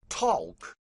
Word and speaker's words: talk: pronounceable producing that's right talk but folks later deemed the LM pronounceable and that's why there's a silent L in talk and after silence comes